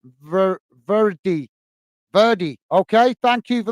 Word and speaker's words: verde: The word is verde, is pronounced as verdi.